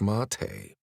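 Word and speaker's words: maté: I don't want any meat, Dad. I pronounce it wrong because I'm irritated with him. Zack, you know it's mate.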